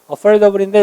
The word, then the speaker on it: affordable: 그래서 reasonable, affordable인데 이거 미국 사람이 또 굴려서 R과 D나 T 그리고 모음이 있으면 party를 party 하는 것처럼 얘를 affordable 이렇게 발음해요.